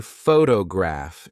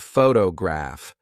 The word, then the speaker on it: photograph: For example, if you say photograph instead of photograph, the listener may be confused.